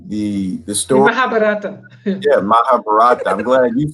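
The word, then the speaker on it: Mahabharata: oh yeah the the the story mahab yeah mahabarata I'm glad you said it because I was going to throw ours in he pronounced it right you got I don't know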